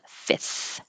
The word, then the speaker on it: fifth: fourth of july and fifth is really difficult with the second f so make it more simple and just have fifth fifth recruitment agency and you